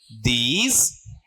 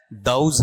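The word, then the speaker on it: those: ठीक है, इसका उच्चारण सही करना सीख लो भाई, सबसे मेरी गुजारिश मान लो, चाहे ऑर्डर मान लो, जो आप मानते हो। ये दोज नहीं होता है, क्या है, दाउज है।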